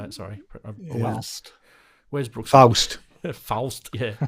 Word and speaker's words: Faust: Sorry, Faust. Where's Brooks? Faust. Faust. Yeah, it's Faust.